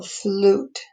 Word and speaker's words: flute: the flute the piccolo flute and i can't hear that e but i can hear the u flute so that's my long u mule mule you i